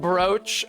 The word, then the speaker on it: brooch: how to pronounce it why don't they just spell it O A in all cases anyway French's fault I